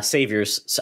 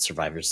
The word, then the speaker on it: Survivors: vampire survivors hopefully uh saviors I call it survivors saviors it's yeah I always get the name wrong in 2023 it's going